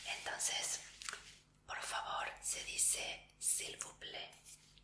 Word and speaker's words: s'il vous plaît: Entonces, por favor, se dice s'il vous plaît. S'il vous plaît. Y te voy a escribir cómo se dice, cómo se escribe.